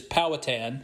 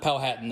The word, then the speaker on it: Powhatan: So first of all, it's the way they're pronounced by the white people in Virginia is Powhatan, not Powhatan.